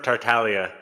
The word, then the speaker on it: Tartaglia: up it's okay yeah my last name is a Talia Talia okay that's what I thought but some people like have Italian last names but then pronounce them not Italian so I didn't want